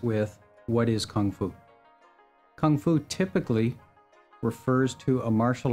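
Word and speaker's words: 功夫: Kung Fu typically refers to a martial art that comes from China. Kung Fu, or Gung Fu as it's sometimes pronounced, is a Chinese word,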